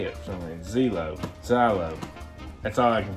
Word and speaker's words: Zillow: Zelo. I can't help it. No. It's Zylo. Right? No, it's right. Zillow.